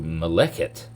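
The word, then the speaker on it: מלאכת: up at all, but there's an aleph in the middle here. And this changes the pronunciation of the word to maleket.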